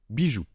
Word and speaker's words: bijoux: Et comme je vous l'ai déjà dit, la lettre O et la lettre U ensemble forment le son OU. Nous avons donc bijoux.